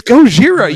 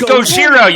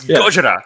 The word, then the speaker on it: Gojira: then she said like it's Gojira you idiot she says it's gojiro you and I'm like it's not it's Gojira it's Gojira like you're not even saying it right no I said when